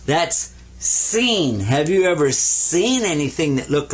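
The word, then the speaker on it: سين: stems coming up now this one is seen like a regular s and this one is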